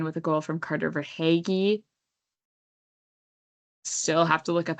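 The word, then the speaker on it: Verhaeghe: V E R H A E G H E for haggy.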